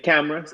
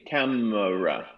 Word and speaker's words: camera: weak syllable everything and cameras it's the exact same thing camera camera we just take away that extra movement in the tongue that extra vowel and we go camera